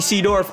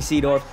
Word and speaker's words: Seedorf: like what i'm seeing sea dwarf am i even saying his name wrong clarence sadorf i'm pretty sure it's pronounced seadorf right look at that run